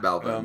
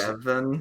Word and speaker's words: Bevin: allegedly won against Matt Belvin. Matt Belvin. Matt That's Bevin. Matt Bevin. There it is.